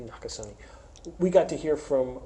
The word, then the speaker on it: Nakasone: hear from general Paul not Casilla not to some neck so how do you good pronounce his name not good you pronounce it e or do you just you do pronounce you okay so this morning we got to hear from 4-star General Paul Mach Paul Nakasone a NACA sunny we got to hear